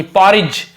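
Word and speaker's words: porridge: Rice यानी चावल की, पॉरिज डी को साइलेंट रखते, पॉरिज यानी होती खिचड़ी, गर्म चावल की खिचड़ी परोस रही थी।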